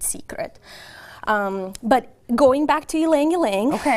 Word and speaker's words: Ylang Ylang: Is it Ylang Ylang? Ylang Ylang.